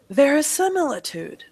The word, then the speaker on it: verisimilitude: syllables spelled out correctly where is your emphasis verisimilitude where does my voice go up verisimilitude which syllable say the syllable see it's not see it's not si si si si yes that's a short I how many short eyes are in this word yes yes so that means four times you have to say not EEE very c mealy tude it's going to